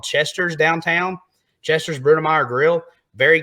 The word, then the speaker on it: Chester: There's also a place called Chester's downtown, Chester's Brunemeyer Grill. Very good place. And Chester rhymes with Hester and Lester, so it may be the happen place.